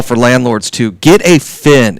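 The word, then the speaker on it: Phin: If you guys got a pool, and this works really well for landlords too, get a Fin. It's spelled P-H-I-N.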